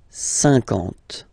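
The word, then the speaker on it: cinquante: Same thing here, okay, remember that you get this QU, but then you don't pronounce the U, and then you get the nasal, un, and then en, 50, 50, okay?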